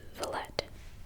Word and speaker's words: Villette: Also, why do I always say it like that? It's Villette. I don't know why I want to, silence them.